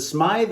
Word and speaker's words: Smythe: I called him Smith. I said, is it Smythe or Smith? It is Smythe. It rhymes with scythe.